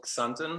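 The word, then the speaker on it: Xanten: come from in germany it's called sunton it's spelled x-a-n-t-e-n and it's an old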